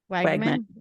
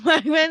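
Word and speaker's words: Wegman: for iconic artist William is it I never pronounce this right William Wagman there you go Wagman I should have checked that before but that's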